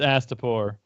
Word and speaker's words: Astapor: It's Astapor.